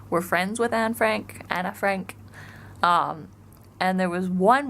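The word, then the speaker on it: Anne Frank: so people pronounce it right because that's closer to what her name is so her name is Anna Frank really also her diary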